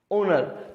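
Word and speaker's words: honour: इसमें हम ह के रूप में, ह के रूप में, ह के रूप में, जबकि इसमें हम ओ के रूप में, मतलब ओनर।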